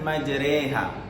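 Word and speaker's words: مجريها: bismillah ini terbanyak ya hai hai bismilahi bismilahi majreha bismilahi majreha majreha wa mursaha inna Robbi lauful Rohim Ya jadi majreha mencuri haknya ma magrinho e Hai nah Hai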